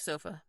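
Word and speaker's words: SOFFA: Center or sofa and it's almost spelled like sofa but with two FS so that's s FFA and it stands for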